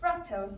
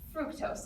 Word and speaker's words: fructose: high-fructose corn syrup came in which is correctly pronounced fructose not fructose like we often hear this low-cost sugar replacement